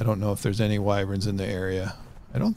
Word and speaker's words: wyvern: uh it's uh some people pronounce used to pronounce it wyvern I used to do that but it's pronounced wyvern if you want to irritate some people pronounce